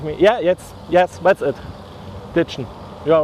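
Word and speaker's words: Ditschen: So das Ditchen ist was ganz typisch Sächsisches.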